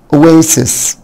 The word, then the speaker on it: oasis: Oasis Oasis طبعا الاس هنا والاس هنا بتنطق اس.